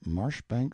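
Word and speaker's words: Marjoribanks: Honorable Kirk cbright lover marjerie Banks sellers vicount Berkeley of chundy Castle Warwickshire pronounced kbri Slover Marshbank sellers vicount Barkley of chumbley Castle workshire he is standing by a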